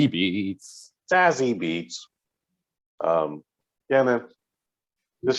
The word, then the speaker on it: Beetz: That's how you have to say her name. Or at least that's how I say it. Beetz.